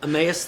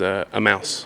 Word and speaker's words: Emmaus: I always used to mispronounce Emmaus as a mouse.